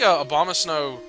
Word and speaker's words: Abomasnow: I think a bomb of snow. That is how you pronounce it, which is weird. But, I think Abomasnow activates it as soon as he shows up on a playing field.